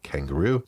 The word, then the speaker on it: Kanguro: Moto Morini also has a bike that it's a little bit of a play on how it's spelled, but it's meant to sound like a kangaroo. So it's spelled Kanguro, kangaroo. So imagine the Honda CRF